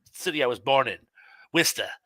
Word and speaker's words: Worcester: worcester massachusetts the city i was born in vista it's spelled worchester but we pronounce it wista birdcoat street represent um it's um it's an